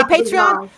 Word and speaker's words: Patreon: deep in the content so when you pronounce it because I don't know why I was saying patreon in my head oh okay patreon oh I'm sorry Patron Patron patreon yeah I like that let's not